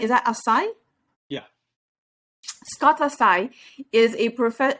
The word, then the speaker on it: Asai: so scott and let me see if i'm pronouncing your name right is that assai yeah scottasai is a profe a professional speaker